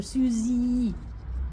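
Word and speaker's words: Susy: And Z for Susie, even though you don't spell it that way. See, that was my trouble. That my name was spelled S-U-S-Y, but it was pronounced like a Z, and I didn't understand.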